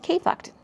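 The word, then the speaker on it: KFKD: titled K, it's titled KFK D, and it's pronounced KFucked.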